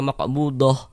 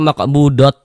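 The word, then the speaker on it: مقبوضة: Maqbudoh ini kalau kita berwaqaf di sini kita baca maqbudoh. Jangan dibaca maqbudot. Maqbudot jangan. Maqbudoh.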